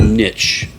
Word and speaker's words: niche: of a a a a niche Niche is how you say it n n n um